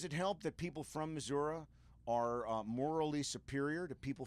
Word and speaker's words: Missouri: It's the coolest because it's the only one here that has a flag from the state of Missouri on the front because it's Shaman's Harvest.